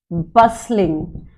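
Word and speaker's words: bustling: This place is बसलिंग। इसमें T silent रहेगा। बी यू एस टी एल आई एन जी।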